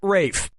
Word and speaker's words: Ralph: Ralph has to Ralph, Reef has to Ralph, Rolf has to Ralph, or Rafe has to Ralph? Time is Yep, Rafe Fiennes' first name is spelled like Ralph, but pronounced Rafe.